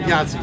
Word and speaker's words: Yahtzee: Oh, no problem, Yachtzee. Did I pronounce that right? Oh no, it's yacht, like a boat, a ship. Schooner, yacht. Yeah, Yahtzee.